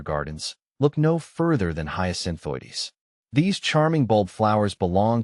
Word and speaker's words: Hyacinthoides: How to pronounce hyasinthoides? The name Hyasinthoides might seem like a tongue twister at first. Here's how to break it down. Hyasin, like the flower hyin. Oi, pronounced oi as in boy.